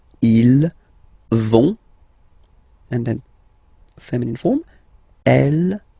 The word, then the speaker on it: vont: it, so ils vont, final T, not pronounced. Ils vont, and then feminine form, elles vont.